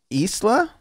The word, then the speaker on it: Isla: Is it Isla? That's how you say her name, Isla Fisher.